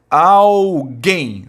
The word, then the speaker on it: alguém: Olha só, alguém, sílaba tônica, é a última.